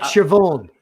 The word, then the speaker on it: Siobhan: team it's yeah yeah it's like shavon shavon in irish is spelled s io b hitch air in well this is